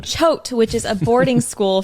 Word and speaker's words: Choate: saying it right okay I looked it up choked chode not not that's what I said choke that's what I said showed spelled c-h-o-a-t-e okay it's a soft tea tote which is a boarding